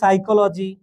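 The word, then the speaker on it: psychology: আমি যদি তোমাকে বলি সাইকোলজি তো সাইকোলজি বানানেও কিন্তু এই যে এরকম এই যে শুরুতে একটা পি চলে আসে ঠিক আছে তো এই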